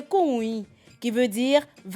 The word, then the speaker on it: Koun: Koun, en fait, vient de l'Agni-Bona, à l'origine prononcée Kounui, qui veut dire « va voir ».